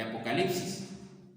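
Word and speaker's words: ἀποκάλυψις: de este libro de Apocalipsis. Apocalipsis, hermanos, es una palabra que viene del griego apocalipsis, ¿verdad?, con acento en la A y con K de kilo, se pronuncia en griego y significa revelación, revelar,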